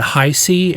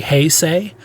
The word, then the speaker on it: Heisei: bit of followup on the last show I pronounced this era incorrectly is the it is the uh I said highy era or it or highi but it's actually hyay uh so I I apologize uh yeah so